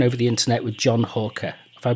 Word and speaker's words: Halker: today I'm talking over the internet with John Halker. If I pronounced your name right, John.